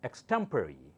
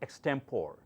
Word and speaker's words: extemporary: common simple words words the next word is pronounced as extemporary extemporary not extempore extemporary speech okay the next